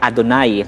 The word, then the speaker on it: YHWH: And then every time na mai-encounter po nila yung YHWH, yung tetragrammaton, hindi nila po yan prino-pronounce na Yahweh, kundi ang pronunciation nila madalas ay Adonai, na ang ibig sabihin ay Lord.